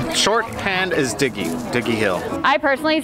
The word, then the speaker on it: Dignowity Hill: Dig-NOW-ity sounds weird. I know some people say Dig-NOW-ity. I was like, I don't know, I'm Southern, so we just kind of roll everything all out at the same time. Dig-NOW-ity Hill. Just say it real fast and it won't matter.